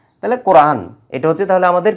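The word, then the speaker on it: القرآن: হলো যদিও আমরা এই নুন জবর না এর উচ্চারণটা আমরা করি না যেহেতু এই জায়গায় আমরা থেমে যাচ্ছি যেহেতু আয়াত শেষ ওয়াকফ করার কারণে আমরা কি পড়ি আল্লামাল কোরআন এই কোরআন পর্যন্ত থাকে কিন্তু কোরআনা শব্দটা ছিল কোরআনা আল্লামাল কোরআনা তাহলে আল্লামা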